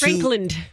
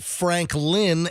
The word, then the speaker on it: Frankland: It's really not Frankland. It's not like Candyland. I'm over enunciating. It's Frankland. I realize that I'm over enunciating because so many people mispronounce it and call it Franklin, Lin, instead of Land, Franklin.